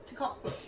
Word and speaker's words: tocopherol: So we found out also vitamin E, which is called tocopherol, which Jess calls something else. Tocopherol. That's actually pronounced tocopherol.